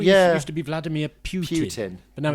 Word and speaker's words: Putin: used to be vladimir putin but now it's but in recent years it's become putin i mean for about the last 10 years i assume because that's nearer to the russian pronunciation which it seems to